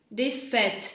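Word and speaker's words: défaite: Так, дефит. Дефет, четче Дефет, да, дефет. Значит, первое читается закрытой, потому что, ну, как потому что с ударением, а вторая аи читается как ну, а последняя, дефет. ну, как бы, типа не читается.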